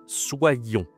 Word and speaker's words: soyons: À l'impératif, ça devient tout simplement soyons. Attention à la prononciation ici. Soyons. C'est le SWA, hein, le fameux soyons.